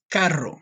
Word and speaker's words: carro: Carro. Now, this one you have to roll your R's, but just try your best, okay?